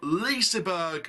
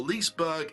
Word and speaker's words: Liseberg: big big information from lisa berg or lisberg however you like to pronounce it in sweden one of